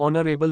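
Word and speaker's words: honourable: underscore underscore underscore underscore ऑनरेबल मैन एन एच is silent the sound starts with ओव वाव एच is silent the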